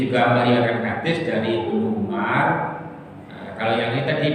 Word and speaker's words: Umar: Kalau ada wawunya tidak perlu dibaca Umar, harus Amr. Karena nggak ada wawunya maka ini pasti Umar. Cuma kita yang baca ini sudah ada urusan dengan wawu karena ada tanda bacanya. Tapi aslinya tidak ada tanda baca ini sehingga tulisannya sama. Umar ya ain mim wawu, Amr ya ain mim wawu.